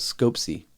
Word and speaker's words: Skoptsy: it scoped ISM and I think it's called scope C because I think the T is silent yeah in Russian if